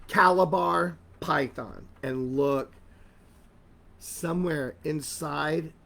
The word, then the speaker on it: Calabar: head this is a calabar python let me spell it for you it's c a l a b a r calibar python and look somewhere inside oh oh i